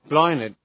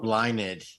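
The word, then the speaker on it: Blathnaid: no r all right here's how you pronounce b-l-a-t-h-n-i-n-a-i-d apologies blinded blah means flower blossom in Legend blinded the reluctant wife of curly mcdaira love cocoon her husband's rival so blinded blinded blinded blinded it sounds like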